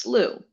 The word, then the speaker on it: slough: So I now know the word is pronounced slew. And I can then map the letters onto the sounds because I know the SL blend. I know in this case, OUGH is the OO sound, and I Hmm.